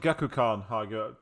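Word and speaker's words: Gekkoukan: Ah, they pronounce it Gekukan.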